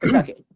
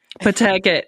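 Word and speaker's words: Pawtucket: We pretend there's no W in there. Pucket. Pucket. Okay. Pucket. That's how you say it like a native. Pucket. There's no W, even though there's a W.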